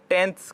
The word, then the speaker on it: tenths: तो after decimal जब चलते हैं तो यहाँ पर टेंथ्स का प्लेस, आफ्टर डेसिमल के तुरंत बाद कौन सा आता है, टेंथ।